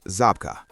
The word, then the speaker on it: Żabka: If you've been watching my Poland content, you already know exactly what Shopka is. And for those watching on the English channel, this part is for you. Just type into Google Poland Zabka.